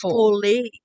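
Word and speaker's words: foole: oh no you're right there was an e on the end it was f-o-o-l-e it was fully it was still full it's a silent e and let's let everybody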